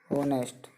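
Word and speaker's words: honest: उच्चारण देखो ऑनेस्ट, तो एच से तो शुरुआत हो रही है, लेकिन इसका जो उच्चारण है वो ओ से हो रहा है, इसलिए इसके आगे भी एन आर्टिकल का प्रयोग होगा।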